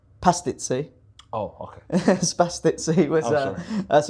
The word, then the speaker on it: pastizzi: Um they're famous for spastizzi, which is a savory pastry. And it's also an Italian with too much CTE. Did you know that? Uh I think it's pronounced pastizzi.